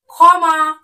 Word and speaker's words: ক্ষমা: এর মত ঠিক আছে তার উচ্চারণ হবে খ এর মত দেখো যেমন ক্ষত ক্ষমা ক্ষুদ্র ক্ষুধা বোঝা গেল